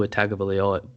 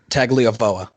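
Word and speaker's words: Tagovailoa: does not have two a tag ofo I see i b i butchered it how do you do it tago VOA there we go they don't have Tua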